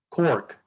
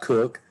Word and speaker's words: Cork: C-O-R-K, Cork. I went back and I thought, that's Cork, not Cook.